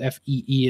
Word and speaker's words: Fe: So I did pick up Fee, I think it's officially called Fee is like how you pronounce it.